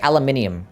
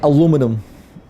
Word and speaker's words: aluminium: We say it how we spell it. Aluminium. You guys say it how you spell it. I forgot to get golden bell. We don't say aluminum. Because we don't spell it like such.